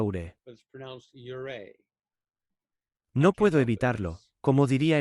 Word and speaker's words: Ouray: El nombre de la ciudad se escribe OURAY, pero se pronuncia Ure.